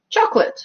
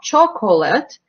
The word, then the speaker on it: chocolate: what happens is that when it's not stressed it's not even schwa we just lose that syllable completely like in the word chocolate so it's not chocolate its chocolate chocolate or like vegetable you